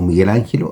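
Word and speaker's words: Michelangelo: El artista llevaba un libro titulado Miguel Ángel, eh, o dice Miguel Ángelo, o Miguel Ángelo, así se pronuncia, fiorentino et Rafael da Urbino, eh, maestro del arte en el Vaticano.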